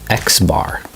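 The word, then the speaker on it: x̄: we pronounce this one this one we call xbar it's an X and you just put a bar my X there just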